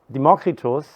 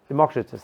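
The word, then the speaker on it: Democritus: explain so what is matter made of so democritos what's the English pronunciation democratus thank you Mata is made of indivisible atoms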